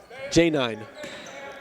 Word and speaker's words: Janai: J9. J9. I know. Look, I know, but that's how J9 pronounces it, and I can't tell him how he pronounces his name.